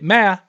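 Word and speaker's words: 妈: You say ma, right? Ma. That means mom. You say it wrong, it means ghost. If you say it wrong another way, it means horse. If you say it wrong another way, it means hooker.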